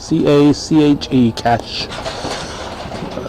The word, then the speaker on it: CACHE: If you're called Cash Stable, C-A-C-H-E, Cash. I would pronounce it Cache, but it's Cash Stables.